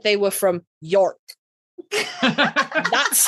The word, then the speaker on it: York: And also, you don't need to elongate that O. It Yorkshire. Kind of like you wouldn't elongate the O in like your.